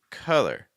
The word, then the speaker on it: color: this is the word color color can you hear that difference between collar and color okay so for color what we want to do is we want to have a schwaza if you're not if